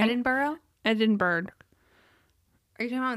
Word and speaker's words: Edinburgh: the early 19th century in Edinburgh not edinberg this is why I'm